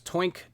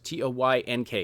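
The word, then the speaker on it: Toynk: have heard of this before but our sponsors twink toys t o y NK i used to pronounce it toy NK no it's actually smoke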